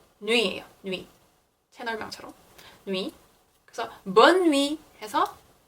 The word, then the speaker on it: bonne nuit: 그래서 bonne nuit 해서 뭐 good night 이란 뜻이 되는 겁니다. 근데 bonne nuit에만 니은자 발음이 더 세게 나는 게 들리시죠?